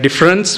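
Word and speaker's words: différance: as we are speaking let us use a French pronunciation to uh signify difference with a M so difference difference right so what does difference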